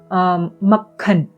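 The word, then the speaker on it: मक्खन: Next, we have the word for butter, which is makhan. Makhan. There's a k and a k sound. There's a half k sound, and then there's a full k sound.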